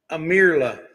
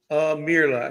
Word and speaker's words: Aimerla: It's called Amirla. Amirla. I guess the I is silent.